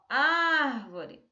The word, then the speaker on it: árvore: Olha só, árvore, ó, árvore. Esse ar, né, da palavra árvore, ele é o mais forte. Então, ele vai ficar, ó, nesse A aqui.